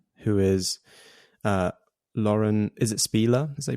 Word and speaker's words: Spieler: So changing course a little bit here, wanted to ask about your agent, who is Lauren, is it Spieler, as they pronounce it?